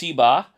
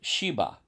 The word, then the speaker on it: Sheba: It can be pronounced Siba or Sheba.